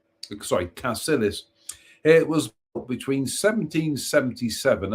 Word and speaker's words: Cassilis: Culzean Castle, one of the foremost attractions in Scotland, and pronounced Culzean. Culzean Castle is a magnificent, sprawling, castellated mansion of the Kennedys, Earls of Castillis. Cassilis.